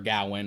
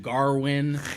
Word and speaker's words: Gawain: It's specifically adapting the epic poem, Sir Gawain, or Gawain, however you want to pronounce it. They do it like several different ways. Really? They call him Gawain. They call him Garwin.